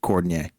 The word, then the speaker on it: Cordinier: seven rebounds um Isa what is it Isaiah cordinier yeah it's literally it's pronounced like for's name but cordier yeah yeah cordier yeah he had 16 points